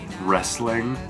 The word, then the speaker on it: wrestling: I mean, for a sport that loves W's, for some reason they decided to pick the one that has the silent W at the beginning of the sport.